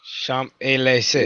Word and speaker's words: Champs-Élysées: And Like we don't pronounce the but- M, the P, and the S. So other than that, you're good. Yeah. Oh, really? Oh, Champs-Élysées.